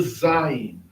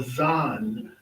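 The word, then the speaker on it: זַיִן: So that particular letter here, that one is called the Zion or Zan. Zan is the name for it.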